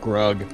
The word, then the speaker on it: Grug: Goltrek Thunderbrow and Aris Gru Gadresh, or is that Grug? Is that a long U or a short U? It's just Grug.